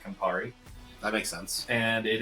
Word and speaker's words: Campari: It's called the Safari Sunrise because Safari rhymes with Campari.